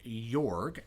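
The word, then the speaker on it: Jorg: who I am calling York his name is spelled J o-r-g which can be ambiguous because you like when I see Jo RG I think York I think soft J maybe that's cuz you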